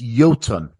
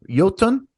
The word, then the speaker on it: Iotunn: so so first off let me get the pronunciation of the band right it's yolon yolon is that right yeah that's that's right that's